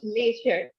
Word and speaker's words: leisure: Leisure, this sure sound. Leisure. Okay, let me tell you how is this pronounced, okay? So try to make a pout and blow air, sh, sh. Z, If you smile, z. it will be a s.